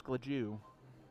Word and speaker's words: Gladu: pilgrim oh all right here's travis glajew and it's actually spelled gladu but it's uh he